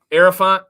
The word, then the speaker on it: Hierophant: Hierophant, silent H. Mm-hmm. The heir, like the heir apparent.